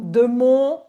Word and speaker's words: Demont: Just the pronunciation is very different. Yes, it's just and the E or Demont, my name is not Oh my God, Demont.